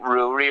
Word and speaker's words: Ruairi: Because it's the Gaelic, my name is Rory, like, but it's the Gaelic fucking spelling of it, like. It's not even pronounced Rory really, but my mother, and we only found out recently that my mother-in-law had been pronouncing my name wrong, like, it's like Ruairi or something.